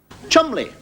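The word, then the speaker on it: Cholmondeley: you get a name like CH mandley not pronounced CH mondle Chumley so I suppose when you pronounce bottomly you've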